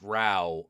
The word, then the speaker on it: row: Yeah, row, pronounced row.